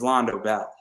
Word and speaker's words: Londo Bell: in charles counter attack it's londo bell and yes it rhymes with taco bell so go buy my